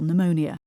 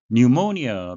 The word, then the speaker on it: pneumonia: pneumonia, P는 묵음이 되겠습니다. A serious illness, 아주 심각한 질병인데요.